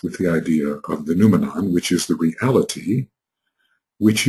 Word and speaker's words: noumenon: It is an outpicturing of what we call the noumenon. N-O-U, can I spell it? N-O-U-M-E-N-O-N, noumenon. And I think Kant dealt with the idea of the noumenon, which is the reality, which is underlying the appearance.